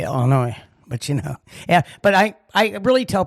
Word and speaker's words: Illinois: It's Illinois. That S is silent.